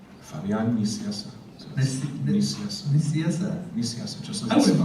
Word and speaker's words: Nicieza: So it was Nicieza, it was nice and easy. He might have done Nicieza one time. So he just purposely kept doing it. And I'd have people come to me at conventions, and Fabian Nicieza. So what is the correct pronunciation? You have to try it again. Nicieza. It's Spanish, so Fabian Nicieza.